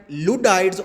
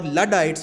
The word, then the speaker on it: Luddites: philosophy and these peoples whom we call at ludides or luddites both pronunciations are fine I heard about both of them so I say ludites these were the people